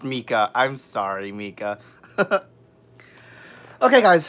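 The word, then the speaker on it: Meike: Oh, it's pronounced Mika.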